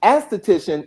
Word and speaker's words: esthetician: Yes, they're both pronounced esthetician. It's just one is spelled with an A, the other one is spelled with an E.